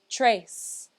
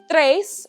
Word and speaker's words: tres: it one more time if you can't quite roll your r's just say trace that's okay i'll give you a break this time okay so now that we know that tres or trace stands for